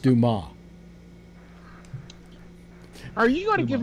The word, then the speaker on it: Dumas: It's pronounced, by the way, it's pronounced Dumas.